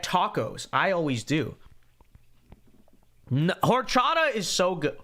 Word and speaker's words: horchata: No, horchata is so good. Should we have to say it with a Latin flair? Horchata. Do you get horchata? That is the right way to say it, right?